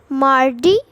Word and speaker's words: mardi: So the first day, which is Monday, is pronounced as lundi. Lundi. Repeat. Lundi. Lundi, lundi. Then Tuesday is called mardi.